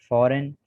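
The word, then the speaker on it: foreign: इसके बाद rule number 5 में है G is silent in the following words. दर्ज झेल अल्फाज में G साइलेंट है। Sign, campaign, डिजाइन, रिजाइन, align, फॉरेन, फॉरनर, assign.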